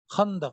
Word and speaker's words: Khandaq: Khandaq, battle of which?